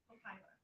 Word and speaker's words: copaiba: Copaiba, so it's spelled C-O-P, like P as in Paul, A-I, B as in boy, A, Copaiba.